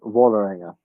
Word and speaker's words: Vålerenga: Is the with the circle on the top is an O, so it's Vålerenga.